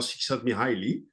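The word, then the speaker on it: Csíkszentmihályi: I have, well, learned by heart how to pronounce his name. If you Google it, it will be difficult, but it's Michal Csikszentmihalyi.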